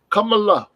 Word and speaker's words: Kamala: name Kamala Kamala yo it was neither it was Kamala right that's how you say h name Kamala right you remember Friday